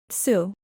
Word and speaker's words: txwv: A third is that W is a vowel, pronounced something like a French U. For example, the unlikely-looking word txwv, a children's game resembling jacks, is pronounced, roughly, tsu.